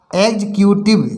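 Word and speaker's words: executive: है सटीक ई एक्स यू टी आईवी ई एग्जीक्यूटिव एग्जीक्यूटिव मीस होता है कार्यकारी अधिकारी इसी तरह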